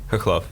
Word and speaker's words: Khokhlov: Alex Khokhlov. All right, say yours one more time. Khokhlov. Yeah, but it starts with a what? K? With a K, but it sounds like an H.